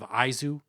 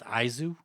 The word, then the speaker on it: Aizu: dropping soon i was bumping the blood of aizu it's actually pronounced izu i've been i think